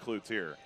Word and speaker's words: Cloutier: It took us about a year and a half before he finally said, guys, it's pronounced Cloutier. Yeah, a little bit of French there being incorporated, but you know, we